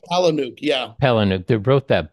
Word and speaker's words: Palahniuk: It's interesting that Chuck, I can never pronounce his last name, Chuck Polniak, you know, Yeah, that Chuck Palahniuk.